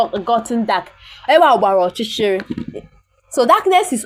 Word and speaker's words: ọchịchịrị: Ọchịchịrị.